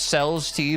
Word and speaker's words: Celeste: It's pronounced CELESTE, by the way.